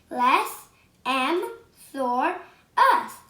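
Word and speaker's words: Lessemsaurus: going to tell you how to pronounce it les m thor us listen soros and it was a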